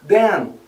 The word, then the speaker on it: then: A gente fala mais e fecha a boca. Them. Quando eu estou falando o them de então, a gente termina com N e aí eu termino mais sorrindo. Then.